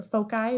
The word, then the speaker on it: foci: here to remember is for your Foci or your Foci is the correct way to say it um c squared is